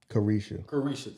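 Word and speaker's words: Caresha: Who's Clarissa? I mean, I'm sorry, I'm saying the chick's name wrong. What's the chick that he was messing with from the City Girls? Carisha, thank you.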